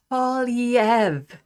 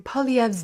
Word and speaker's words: Poilievre: Party of Canada and kids finally five it's pronounced POV PV as the leader of the official opposition